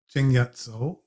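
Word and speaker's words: 鄭一嫂: uh, successful Chinese pirate, Cheng Yatso, who's known more online as Zheng Yi Sao. That's the difference between the Cantonese pronunciation of her name and the Mandarin pronunciation of her name.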